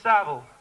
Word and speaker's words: Savile: His name rhymes with gravel. Himiny gravel, himiny gravel. What's his name? Is it Jiminy Bovril? Jiminy Battle? No, it's Jimmy Savile.